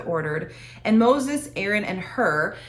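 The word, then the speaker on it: Hur: and moses aaron and her now her is spelled h-u-r okay this is not h-e-r it's not a woman that's there as well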